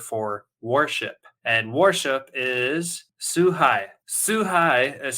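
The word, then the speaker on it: 崇拝: And worship is suhai. Suhai is spelled Suhai.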